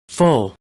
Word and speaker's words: full: De igual forma, vamos a encontrar la palabra lleno full, full, y también vamos a ver, ¿no?, que esta palabra tonto contiene este segundo símbolo fonético.